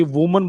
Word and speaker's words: women: अगर हम ए वाला कहते हैं तो ये वुमन बोला जाएगा, वुमन, और ई वाला बोलेंगे तो उसको वीमन कहा जाएगा, वीमन, वीमन, वुमन।